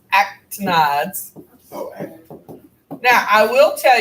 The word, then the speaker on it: actinides: It's pronounced actinides.